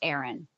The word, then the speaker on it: Aryn: I spell her name Aryn, pronounced Aaron.